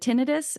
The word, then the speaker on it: tinnitus: And how do you pronounce the ear thing? Is it tinnitus or tinnitus, yeah, or tinnitus? tinnitus. Either Tinnitus, one works. Yeah, which I have three